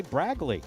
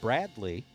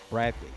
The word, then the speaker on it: Bradley: was watching the tournament i do say braglee with a g but i don't intentionally do it it's there's there's something in there's something in my pronunciation of bradley that i hear what